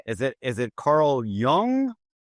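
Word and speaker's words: Jung: So So you're gonna have to help me with this pronunciation, too. All right. All right. Is it Is it Carl Young?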